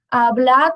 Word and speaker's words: hablad: Só que a gente não pronuncia muito esse D.